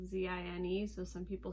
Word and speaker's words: zine: zine is like short for magazine so it's pronounced zine but it's spelled like z-i-n-e so some people say sein but it's a zine um and essentially the